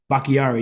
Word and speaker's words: Bakhtiari: Bakari or Bakhtari? The left tackle? Bakhtiari, yeah.